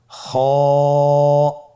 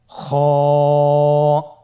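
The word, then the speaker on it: خ: খ হরফটির মাখরাজ হলো কন্ঠনালীর শেষ ভাগ হতে উচ্চারণ করতে হয়। কন্ঠনালীর শেষ ভাগ। আপনারা আমার সাথে বলুন খ আবার বলুন খ মাশআল্লাহ।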